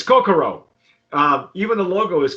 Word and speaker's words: Kokoro: the tequila is called cocoa i hope i'm pronouncing that correctly coco it's co it's coco it's kokoro uh even the logo is kind of like